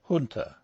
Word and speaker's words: junta: have chosen to use the pronunciation junta rather than the more correct junta on the grounds that